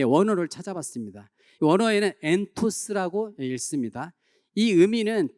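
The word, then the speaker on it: ἐντός: 원어에는 엔토스라고 읽습니다.이 의미는 두 가지 뜻이 있어요.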